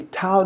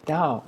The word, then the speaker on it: Tao: So the da de see if you read it straight it'd be tao deqing t a o but here we say dao and I think dao